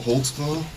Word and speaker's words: Holtzclaw: there cuz I don't even know how to spell it I can how do you say your name Holtz claw Holtz claw what is that it's a German